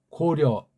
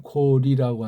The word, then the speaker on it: 고려: 그걸 이제 쭉 진행하다가 1392년 고려 정확한 건 고리라고 하죠. 고리라는 발음인데 이것도 고려라고 이제 비튼 거예요.